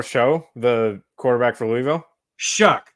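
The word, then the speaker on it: Shough: Shuck. Sorry, not Sluck. Oh. Shuck. That's how you say it. I know that it looks weird, but it really is.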